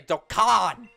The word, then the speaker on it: Dokkan: You must say Dokkan. It is Genghis Khan. It is Dokkan.